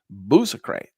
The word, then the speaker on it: Bousacrate: Bu- he taught me how to say it, and this is how you pronounce this name. It's Bousacrate.